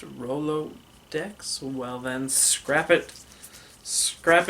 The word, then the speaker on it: Rolodex: hello there and welcome to the tutorial for Rolex wait a second this just in it's actually pronounced Rolodex well then scrap it scrap it scrap oh